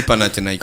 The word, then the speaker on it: Panathinaikos: Panakuki. Tu devais apprendre la prononciation.